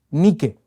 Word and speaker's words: nike: Y este verbo vencer tiene la raíz griega nike, que significa victoria. Estoy seguro que usted conoce esa palabra, pero usted la conoce como Nike. Nike, yo estoy leyendo como se escribe, es victoria, eso es lo que significa, victoria.